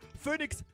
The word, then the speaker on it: Phoenix: Das PH wird wie ein F ausgesprochen, OE wird wie ein Ö ausgesprochen und nix wie nix.